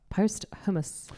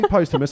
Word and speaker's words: posthumous: Oh, Mac Miller post hummus. Is that how you say it? You can say posthumous. I'm a vegan. I don't mind that. I believe it is posthumous.